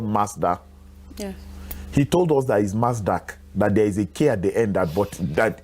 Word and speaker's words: Mazda: He was arguing that Mazda, the pronunciation has a K in it.